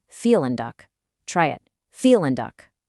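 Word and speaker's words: vielen Dank: See that v in felin? It's not a v sound like in very in German. It's a soft f sound. So you're actually saying feel and duck.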